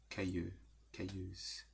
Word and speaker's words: callous: Merciless, insensitive, hard, callous. How do you say it? Careless. Careless. Careless. Careless. It's like kill us.